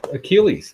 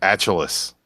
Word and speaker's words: Achilles: I believe that's pronounced Achilles. I'm sorry. I'll wait. Go ahead. What was that? It's pronounced Achilles.